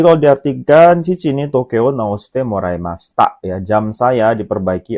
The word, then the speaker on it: 直して: Oke, kita jawab ya minasang, yaitu jawabannya adalah nomor kanji bacanya itu nomor 4 yombang, yaitu naoshite desu ne. Hai, jadi itu bacanya kanji naoshite.